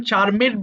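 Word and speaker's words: charmed: করো microphone sound আসে এটা একজন চারমেড বলেছ চারমেড হবে না এটা চারমড হবে চারমড অর্থাৎ যখন কোন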